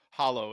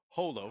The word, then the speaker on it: holo: No, it's Gengar, but uh it's not hollow. It's uh holo. Holo bite me. puzzle says, "Oh, really? What card? I'm not a nerd. You are." There you go. Holo Gengar.